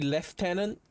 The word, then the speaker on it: lieutenant: You know, in the UK, lieutenant is supposed to be left tenant, but it's still spelled the same.